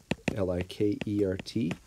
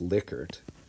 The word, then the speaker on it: Likert: use uh leica scale l-i-k-e-r-t it's actually the guy's name was lickert but uh most people pronounce this a likert scale and so that's where